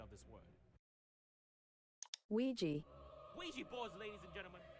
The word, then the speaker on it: Ouija: asked a data analyst expert to give us the proper pronunciation of this word. Ouija.